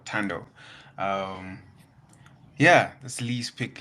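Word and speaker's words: Thando: It's spelled TH, the end sign O. So Tando.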